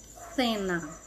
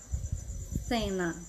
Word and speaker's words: cena: como ir na Espanha vocês vão ter que encostar ponta da língua entre os dentes e fazer esse som e é meio esquisito mas é assim vamos para anunciar essa palavra pronunciem comer cena cena você vai só